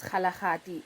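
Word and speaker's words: Kgalagadi: into the Kalahari desert whose correct name is Kalahadi in Sitswuana but white people couldn't pronounce it region which is extremely dry.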